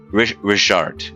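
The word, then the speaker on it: Rhisiart: don't ask about his brother 861 he doesn't like to talk about it uh rizard is his name r-h-i-s-i-a-r-t but it's got a pronunciation richard actually is his name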